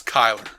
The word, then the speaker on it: Chyler: I was told it was Chyler. Okay. We have an open invitation for anyone to give us phonetic pronunciations to any of these things.